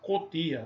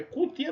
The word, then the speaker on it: cutia: Então, cutia, o fonema é fechado, é U, mas nós pronunciamos com O, cotia. Não, é cutia mesmo.